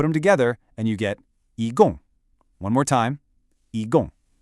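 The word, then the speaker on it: 一共: The first character, yi, is a high, flat first tone. Say it with me. Yi. Good. The second character, gong, is a sharp, falling fourth tone.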